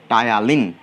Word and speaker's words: ptyalin: টায়ালিন বানানটা দেখো, টায়ালিন, PTYALINE, PTYALINE, এইটা কি বলা হয়?